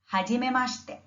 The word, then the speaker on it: hajimemashite: The first is hajimemashite. Hajimemashite. I have split it up so that the pronunciation is a little easier to follow.